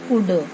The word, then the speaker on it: could: Children and teachers of a school go to a place which could be, could नहीं पढ़ना है, हमें पढ़ना है could, L साइलेंट रहेगा, could and WHICH which could be a park and an adventures ADVENTUROUS क्या बना?